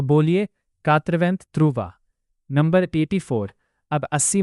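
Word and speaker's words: quatre-vingts: हमें last lesson में सिखाया था कि 80 को कात्रिवंतें बोलते हैं।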